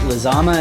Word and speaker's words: Lizama: I'm joined today with Eric is it lizama is that how you pronounce it yes sir that's correct excellent how